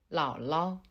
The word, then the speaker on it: 姥姥: Bien que les deux caractères qui le composent soient identiques, le premier caractère se prononce au troisième ton. 老, 老, 老. Tandis que le deuxième caractère se prononce au ton neutre. 老. Il faut prononcer le deuxième 老 plus légèrement. 老, 老, 老.